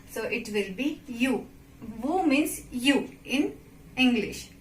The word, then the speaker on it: vous: S it is vous, not vous. It's vous, you will not pronounce S at the end of word, so it will be you. Vous means you in English, right?